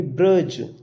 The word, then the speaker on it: bridge: जैसे हम पढ़ते हैं ब्रज, लिखा हमने BRIDGE, यहाँ पर जी से पहले डी आ गया तो हम यहाँ पर डी का उच्चारण नहीं करेंगे, बोलेंगे ब्रज।